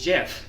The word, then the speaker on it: GIF: The creator literally said it's pronounced Jeff.